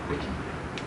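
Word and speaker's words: Hwicce: Here in Gloucester we were part of the Wiki. I think that's how you pronounce it. It's spelled in a very strange way.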